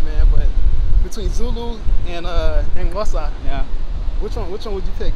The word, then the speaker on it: Xhosa: Kosa. Tosa, yeah. Kosa. X-H-O-S-A. Yeah, I know how to spell it, man. It's saying it's hard, bro. Like the clicking sound, yeah.